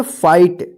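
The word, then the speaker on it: fight: आई उच्चारण करेंगे राइट एफ आई जी एच टी देखिए यहां पे आई के बाद भी जी एच है तो इसको क्या पढ़ेंगे फाइट इसको फिट मत पढ़िए या फिट मत पढ़िए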